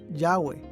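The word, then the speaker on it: Yahweh: arqueológicos han indicado que este término debe ser pronunciado yagüe yagüe es a menudo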